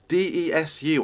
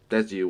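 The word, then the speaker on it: です: Revell, what does the DESU or DESU or however you pronounce that mean in your name on Twitter? So that's Des. Like it's pronounced Des.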